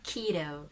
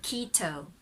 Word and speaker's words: keto: mostly the word keto so americans say keto but for british the tea is very clear so quito there's a bit of an o in the o quito that british keto but americans hiro keto okay so lolly's kido